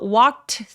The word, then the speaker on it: walked: 이런 경우에 중간에 낀 t를 발음을 아예 안 해버리는 습관이 있어요. 그래서 빨리 발음하게 되면 The emperor walked through 하면서 동사 원형처럼 그냥 발음하셔도 괜찮습니다.